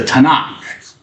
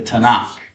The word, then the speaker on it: Tanakh: that's the acronym and they add an a the vowel a in between so it's pronounceable so you don't say TK it's not the TK it's the Tanakh the Tanakh so if you hear